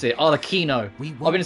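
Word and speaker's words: Arlecchino: here lady arlikino herself included that's how you pronounce it all Aquino I've been saying all the shadow because there's a CH that's it and that's how you pronounce it all Aquino I was about this Italian so I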